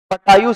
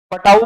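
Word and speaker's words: Patau: पटायु syndrome, पटाऊ बोल दो या पटायु।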